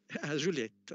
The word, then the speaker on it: Juliet: Pronuncio bene? Juliet. Juliette, ok, grazie.